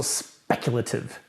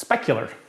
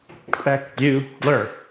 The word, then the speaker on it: specular: It's also speculative. No, speculative is what traders do. It's specular. It's not speculative. You're a speculative trader. Your reflection is specular. Woo, big words. Specular, 3 syllables.